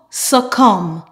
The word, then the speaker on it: succumb: So in the words I will present, we will only pronounce the M, mm.